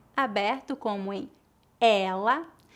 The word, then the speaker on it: ela: a diferença agora vamos praticar as palavras ela com e aberto e ele com e fechado repita depois de mim ela ela ele ele excelente